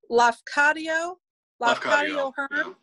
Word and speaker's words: Lafcadio Hearn: I can never pronounce his name. It's Lafcadio Hearn.